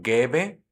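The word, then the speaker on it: gäbe: el verbo en infinitivo Y es que gebe con umla su pronunciación se parece bastante a la e que ya tenía observemos por ejemplo en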